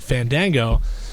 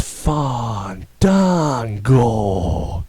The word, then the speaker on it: Fandango: hear them you know say his name like Fandango and he would say no that's not how you say my name my name is Fond Dango see I got it